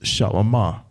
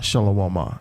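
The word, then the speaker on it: שלמה: saying earlier is that solomon's name is shalama it's not shalawama it's shalama the word the word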